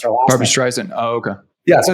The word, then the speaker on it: Barbra Streisand: streisand what's what i don't know how you pronounce her barbra streisand oh okay yeah so it's a barbra streisand